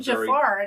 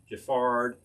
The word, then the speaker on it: Giffard: Now, if you want to hit some really nice brands like Giffard, Brizard, other things that rhyme with ard, you'll find some really good stuff.